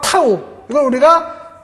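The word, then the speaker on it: τ: 때 이 전단 음역 타 우리가 읽을 때는 타우 라고 읽어요 이 전단 응력 은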